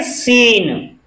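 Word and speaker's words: scene: एस सी ई एन ई, यानी शुरू में जब एस सी एक साथ आते हैं तो ऐसे शब्दों में भी हम एस साइलेंट रहता है, सॉरी सी साइलेंट रहता है। इसमें हम पढ़ेंगे सीन, सीन।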